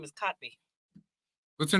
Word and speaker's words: Kotb: how do I know because her name is kotby what's her name kotby oh is that how you say her name